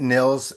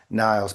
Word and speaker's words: Nils: I pronounce it Niels. Some people pronounce it Niles, but I pronounce it Niels.